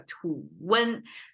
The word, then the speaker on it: 吐温: So it becomes a 吐温, become 2 syllables. So this T, twin, right? This T separated out as a 吐. We cannot say twin. It's not possible. So I have to insert a vowel there.